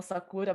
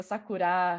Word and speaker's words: sakura: Normalmente as pessoas falam sakura, mas é sakura, hashi, sashimi.